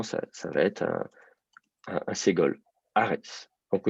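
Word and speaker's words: ארץ: Donc, au lieu de dire arts, on va dire arets. Avec ce petit « et » comme ça entre les deux, mais qui ne prend pas l'accent, bien sûr. C'est-à-dire que la syllabe qui est accentuée, la voyelle qui est accentuée, c'est la seule voyelle, la seule vraie voyelle, c'est le A.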